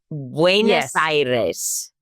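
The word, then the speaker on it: Buenos Aires: we started in buaer Buenos Iris buenos yeah Iris yes Iris because no one pronounces it correctly so we'll work on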